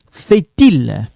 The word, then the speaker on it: fait-il: So, we link here. Become fait-il. Okay, we link it.